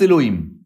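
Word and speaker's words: אֱלֹהִים: C'est-à-dire, c'est Sheva Segol, qu'on met sous le Yud, un Cholem sur le He, et un Chirek sous le Vav. Ce qui fait que quoi? Ce qui fait qu'on le prononce Elohim.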